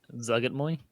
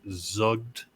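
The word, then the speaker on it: Zuggtmoy: I recall when I was looking it up that it's almost like a silent apostrophe. So it's Zugtmoy.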